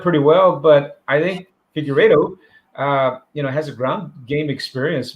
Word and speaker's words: Figueiredo: The fight against Brandon Moreno and man, wow, I'm sorry to not be able to pronounce it. What was the last name for Davison? Figueiredo.